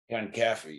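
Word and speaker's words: Conkaffey: So in Tropo, you play ex-cop Ted Concaffey. Am I pronouncing it correctly? Concaffey, yeah.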